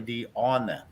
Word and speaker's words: Deanna: It's spelled Deanna, but it's actually Deanna. Is how her name is pronounced.